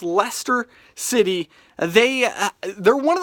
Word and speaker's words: Leicester: with Leicester City that's right it looks like ly Chester if you look it up but it's pronounced Leicester City they they're one of those small teams